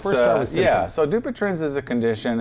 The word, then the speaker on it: Dupuytren's: Am I pronouncing it correctly? Dupuytren's, Do yes.